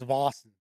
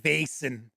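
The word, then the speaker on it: Vaesen: I'll have to double check it again, but I'm pretty sure it's Vossen. Not like Vason.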